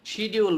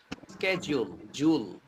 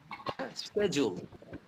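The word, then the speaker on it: schedule: এর আগে পরে ভাউল হলে সেই ডি এর উচ্চারণটা হয় জ। তো আমরা বলতে পারি শিডিউল, বলি না আমরা শিডিউলটা হচ্ছে স্কেডিউল, স্কেডিউল।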